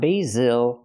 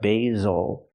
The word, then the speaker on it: basil: and day B basil the S makes the ZZ sound like zebra make a vibration use your voice Z basil again not basil but basil because the stress is on the first syllable not the second one and this is